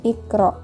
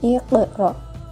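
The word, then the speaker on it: اقرأ: huruf yang harakat sukun maka cara membacanya harus dipantulkan Iqra tidak boleh Iqra tapi Iqra contoh lain adalah lafaz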